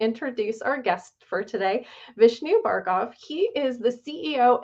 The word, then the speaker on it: Vishnu: on yourself and Astro seed yeah uh I'm Vishnu uh that's how it's pronounced Vishnu and uh it's not a company called astrosy